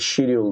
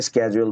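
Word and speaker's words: schedule: আর same জিনিসটাকে ব্রিটিশের মানুষটা হচ্ছে হল গিয়ে সিডিউল বলে ঠিক আছে দুইজনের মধ্যে কিন্তু ডিফারেন্স আছে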